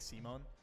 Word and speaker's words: Simon: what i was told in japanese you would be saying simon like simone and so i guess